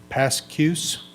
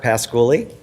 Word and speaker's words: Pasculi: Pascuse. Did I say it right? No. Well, you can correct us. Thank you. It's okay, it's rarely said correctly. It's Pasculi.